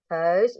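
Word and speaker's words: huis: House itu rumah. Tulisannya H, U, I, S. Dibacanya house.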